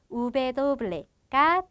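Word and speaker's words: uve doble: 그래서 우베도블레가 W가 되고 얘는 외래어 전용으로 많이 쓰이는 그런 알파벳입니다.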